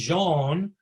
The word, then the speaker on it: Jan: It's not Jan, it's pronounced Jean.